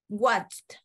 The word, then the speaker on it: watched: Cuando es un sonido CH, escuchen bien, sonido, no hablo yo de cómo se escribe, porque a veces el sonido es diferente cómo se escribe, ya lo vamos a ver, pero en este caso, watch es una T la que suena al final, watched, ¿ya?